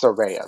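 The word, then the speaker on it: Saraya: then of course uh sorayas that's how she pronounces it now so it's surveya so um so she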